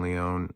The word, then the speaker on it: Leone: But uh yeah, go check out Ryan Leone or Ryan Leon is actually how you say it, but it it's spelled Leone.